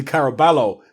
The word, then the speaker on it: Caraballo: name again people obviously I want to say Caraballo because that's how it's pronounced phonetically in English but